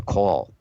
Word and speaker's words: caul: are born with the caul wrapped around them as well it's it's spelled CA UL like that like the call it's like a sack